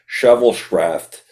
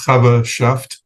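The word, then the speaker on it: Chaverschaft: me on my pronunciation, Shovelschraft, to plan and conduct significant range of services. Now, what exactly is that? You can correct me on. The word is pronounced Chavashaft. Okay. Chaver in Hebrew is friend.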